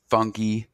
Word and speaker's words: fungi: Well, it's Flora, fungi. I use the Italian pronunciation as kind of a nod to all the guys from Italy I worked with, and then fauna.